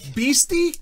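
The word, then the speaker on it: bheestie: a i guess beasty say that again pasty beasty that's right i'll spell it for you what's the category weird words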